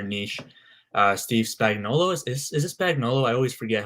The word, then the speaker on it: Spagnuolo: Steve Spagnuolo, is it Spagnuolo?